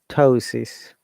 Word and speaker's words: ptosis: difficult to pronounce yes terrapod another one and that's spelled p t arrow pod terabot ptosis p-t-o-s-o-s-i-c so p-t-o-s-o-s ptosis uh most of these words are academic words